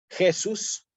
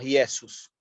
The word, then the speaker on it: Jesus: Sí aquí en ellos aparece una una J que nosotros en latín la tenemos que pronunciar como una y ellos como Jesús que se escribe con j también que pueda aparecer en algunos textos como J no decimos Jesús si no decimos Jesus y esos nazarenos es